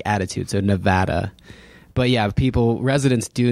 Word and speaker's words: Nevada: add insult to injury Marin uses the pronunciation of Nevada not preferred by residents although he does complement it as a beautiful state what what is that in reference to Nevada no one likes that pronunciation he say and I think I corrected him and said say Nevada oh really yeah yeah